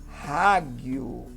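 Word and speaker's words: ἅγιος: Bom, primeiro, esta palavra, ela tem aspiração.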